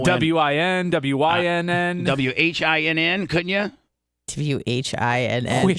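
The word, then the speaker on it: Nguyen: WIN, WYNN. WHINN, couldn't you? WHINN. Sure, why not, Bubba? Quinn. Or like in a baseball or a football game, WIN, right?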